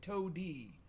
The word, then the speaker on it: Toady: Which I had to look up the spelling just to make sure Yeah. it wasn't like it's Toty, but they keep pronouncing it Toady.